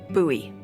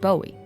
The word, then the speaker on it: Bowie: huge Rusty Bowie knife it's actually pronounced buoy what no it's like the last name like David Bowie different last name buoy